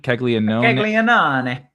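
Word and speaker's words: Caglianone: And uh remind me how he pronounced the the uh royals young fella uh uh his his name kegleon kegleon kegleon keglean that guy you just say it really Italian and it doesn't matter what you say.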